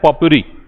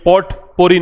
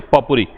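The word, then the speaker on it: potpourri: इसका प्रोनाउंसिएशन है पॉपुरी। ये पॉट पोरी नहीं है, ये टी जो है म्यूट रहता है इसमें, पॉपुरी।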